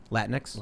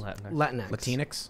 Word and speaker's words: Latinx: Latinx? Latinx. Latinx? Like Kleenex, yeah. Yeah, like Kleenex.